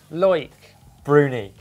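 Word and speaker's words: Loïc Bruni: Is it Loic Bruni? Loic Bruni.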